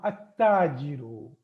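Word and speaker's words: التاجر: Now here I am not pronouncing lam. At-tajiru.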